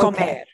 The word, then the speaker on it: comer: when you pronounce that, where's the accent? Like to eat? Yeah. The infinitive, not when we don't do anything to it. Okay. We don't conjugate it. We punch the ending. Okay. Comer.